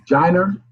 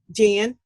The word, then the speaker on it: Jyne: Jyner? It should be Jyne, not an R. Okay. And how do I pronounce it? Jen.